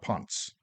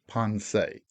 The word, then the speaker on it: Ponce: politely but emphatically corrected the ship's name is ponsei not pons not punts ponsei wow so my first